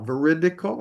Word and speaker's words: veridical: Veridle is veri t i c a l. Veridical.